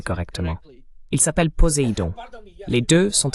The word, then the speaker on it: Poséidon: Pardonnez-moi, oui, vous le prononcez correctement. Il s'appelle Poséidon.